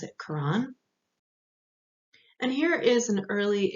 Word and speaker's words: Quran: different ways of spelling it here but we pronounce it quran and here is an early example of islamic